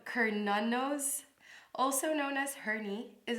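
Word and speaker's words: Cernunnos: history of sir nunos so um sir nunos pronounced hernanos also known as herni is a Celtic stack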